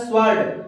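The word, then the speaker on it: sword: यहाँ पे दोस्तों अगला हमारा है स्वर्ड। तो स्वर्ड में दोस्तों हम यहाँ पे सीधा स्वर्ड पढ़ रहे हैं। यहाँ पे दोनों उदाहरण में हमें डब्ल्यू का कोई उच्चारण नहीं करना पड़ रहा है दोस्तों।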